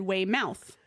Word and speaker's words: Weymouth: So I was going to say Weymouth and then I looked on Google and I did pronunciation and it said way mouth.